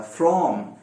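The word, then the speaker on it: from: चाह रहा था, फ्रॉम, फ्रॉम के दो प्रोनाउंसिएशंस होते हैं। जब फ्रॉम हल्का बोला जाता है तो फ्रॉम हो जाता है, फ्रॉम जिसमें शुआ आता है। जब उसको स्ट्रांगली बोला जाता है तो फ्रॉम होता है, फ्रॉम।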